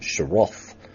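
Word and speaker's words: Shrout: themselves in due course Winston's route or Roth to give the correct pronunciation is the latest I'm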